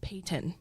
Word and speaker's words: Peyton: Yeah, I'm very particular how I say it cuz like just like how my parents say it and it's Payton. It's like kind of like two syllables kind of thing.